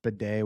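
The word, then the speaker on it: Bidet: Is it ironic that in the same week we find out it's pronounced bedday which is supposed to clean your butt, we also find out he's going to be a pain in the butt.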